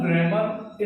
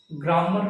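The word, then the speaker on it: grammar: There are books on ग्रामर इन the library. पहली बात तो ग्रामर का प्रोनाउंसिएशन ग्रामर नहीं है। दिस इज ग्रे म ग्रे ग्रेम और पहली बात बुक्स ग्रामर की नहीं होती है।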